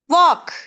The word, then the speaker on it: walk: First one, walk. Just walk. நாங்க walk WALK இத walkன்னு சொல்ல இயலாது L வாரனால L நாங்க ப்ரொனவுன்ஸ் பண்ணி walk. No, that is wrong. walkன்னு சொல்ல முடியாது walk. L silent ஆகும்.